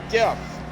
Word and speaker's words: GIF: charge this language it's GIF fight me I don't care pronounce it any way you want what do I care I pronounce a gift CU it's short for graphic the hard G graphic information file but seriously